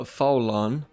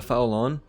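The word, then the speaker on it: Faolan: One of these clans is called the Faulan. I believe that's how you say it. That's how I say it. F-A-O-L-A-N, the Faulan.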